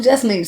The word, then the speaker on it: Just Nesh: So I was like, I'll just do Just Nesh. So it's 2 syllables.